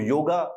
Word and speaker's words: योग: तो योगा की एक्चुअली में सही प्रोनाउंसिएशन, इवन दो उन्होंने लिखा योगा है, लेकिन उसकी प्रोनाउंसिएशन होती है योग, राम और कृष्ण। परंतु अंग्रेजों को इस बात में ध्यान नहीं था, तो उन्होंने उसको योगा, रामा और कृष्णा कहना स्टार्ट कर दिया। कोई प्रॉब्लम की बात नहीं है, अब ये एक्सेप्टेबल है।